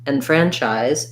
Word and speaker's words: enfranchise: z sound and then the e n in enfranchise is an unstressed syllable so it sounds more like an in so thinking about it